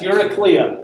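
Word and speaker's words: Eurycleia: on page 104 characters introduced all right yes you're a cleo that's how you say her name yuri clea you need to be familiar with her her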